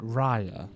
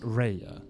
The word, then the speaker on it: Ria: out with things so you pronounce it Ria not Reya I pronounce it whichever